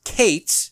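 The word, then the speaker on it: קֵץ: The first is qes kates is how that's pronounced.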